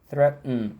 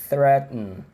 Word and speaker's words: threaten: só por uma curiosidade, a gente chama de parada glotal, tá? É um som que você, quando tá pronunciando, você dá uma travadinha. Threaten, tá?